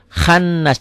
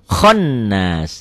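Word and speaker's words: خناس: ya Min syarril waswasil khannas jangan ganti dengan o khonas ganti dengan O ya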